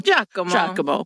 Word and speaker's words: Giacomo: Giacomo.